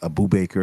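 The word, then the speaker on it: Abubakar: Abu Bakr, I'd say it would be. Abu Bakr. Abu I would Bakr. say Yeah, that's how you pronounce it.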